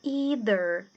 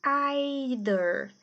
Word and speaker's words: either: pra penúltima palavra que é o either either no inglês americano ou either either no inglês britânico Mas de qualquer forma esse th vai ser o th voiced a gente tem dois tipos de pronúncia do th a gente tem o voiced que é o th com som de D igual aqui que é